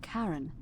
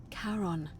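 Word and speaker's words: Charon: it's just as you described it, only your pronunciation is a little off. The name you heard wasn't Karen. It was C H. I knew it. O N. As in Karon, the fairyman of the dead.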